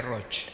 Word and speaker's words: Roig: es Catalán se pronuncia roch roch Ah me parecía que era Catalán la la G Al final en catalán se pronuncia c Bueno tengo acá el